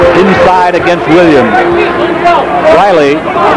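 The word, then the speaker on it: Rahilly: hurricane it's on jeff riley inside against williams riley is spelled r-a-h-i-l-l-y there are brothers on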